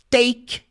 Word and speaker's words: take: final perceba aí comigo take take se escreve t a k e mas o e não tem som sem pronuncia só Take a palavra make de